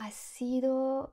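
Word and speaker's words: ácido: J'ai dit le mot acido et elle m'a regardé un petit peu étrangement et elle m'a dit acido, acido. Ah ! Acido. Pour moi qui est une oreille française, c'est quelque chose que je trouve assez étrange. J'ai du mal à comprendre qu'un mot soit incompréhensible juste parce que l'accent tonique n'est pas au bon endroit.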